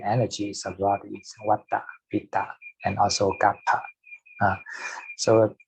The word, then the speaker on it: Vata: How do you pronounce it? Vata.